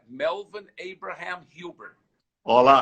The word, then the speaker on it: Huber: como, olha lá, gente, registrado como Melvin Abraham Hubbard. Falei direitinho? Falei direitinho? Olha, a forma de pronunciar em inglês é Melvin Abraham Hubbard. Olá, Hubbard.